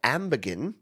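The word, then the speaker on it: Amergin: a cover the song of amberin with a hard G as in glorious uh is the most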